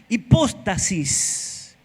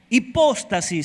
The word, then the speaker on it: hipóstasis: La palabra certeza allí en el original es hipóstasis. Hipóstasis, acento en la O. Hipóstasis. Certeza, hipóstasis. Diga hipóstasis. No es apóstata, ¿eh?